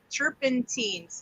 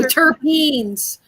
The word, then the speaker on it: terpenes: i've read about it chirping teens did i say it right no terpenes beans yes i've got to